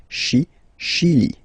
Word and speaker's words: Chili: Okay, remember, CH, sh. Okay, Chili.